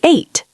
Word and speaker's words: ate: Eat changes to ate. A t e. It sounds like the number eight.